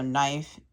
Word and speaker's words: knife: knife okay so this the K is silent so yeah so knife and knock cuz we don't say